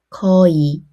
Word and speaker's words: 거의: In these words, many Koreans naturally pronounced의 as e. Listen carefully. 거의 주이 하이 예이 회의.